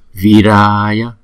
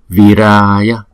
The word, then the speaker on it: Viraya: Viraya, Viraya, Viraya. Chúng ta đọc rõ là chữ vi và chữ ra, bởi vì nó là hai nhịp, có chữ dấu gạch trên đầu là hai nhịp.